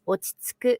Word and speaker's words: 落ち着く: Like, so that su is like the U almost doesn't happen. It kind of just sku right into the next syllable, which is ku. So you still get that oo sound, but it's like sku.